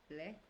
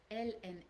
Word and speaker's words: la: Okay, and because if you say le, like pronouncing the A like an English A or something like that, I would understand LES, which is the plural one.